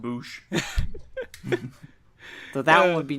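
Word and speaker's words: Boushh: Salacious Crumb or a Salacious Crumb and a Bausch.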